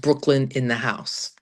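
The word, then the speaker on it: BKLYNDAHSE: It's pronounced Brooklyn in the house.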